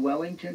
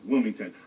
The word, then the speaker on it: Wilmington: But do you mean Wellington or Wilmington? Wilmington.